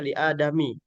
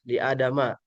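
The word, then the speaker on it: لِآدَمَ: Sehingga nanti tidak boleh dibaca li adami. Tetap aja dibacanya li adama begitu.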